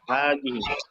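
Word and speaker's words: هذه: Ada hadhihi. Ya, jadi secara pengucapan ada alif setelah H, tapi secara tulisan tidak kita tulis.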